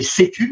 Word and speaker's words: C3: ce qu'on a baptisé C-Cube. Alors, on le prononce C-Cube et on l'écrit C3, pour Centre de compétences